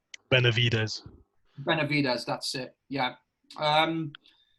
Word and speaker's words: Benavidez: Benavidez.